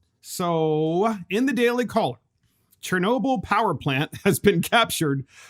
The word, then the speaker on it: Chernobyl: the cho renewable power plant i think that's pronounced chernobyl excuse me i actually watched did you see